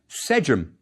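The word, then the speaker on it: sḏm: ear, is a triliteral representing three sounds, one after the other. S, J, and M. It's as if we wrote the folded cloth, serpent, and owl, one after the other. It's pronounced sejum, and the word means to hear.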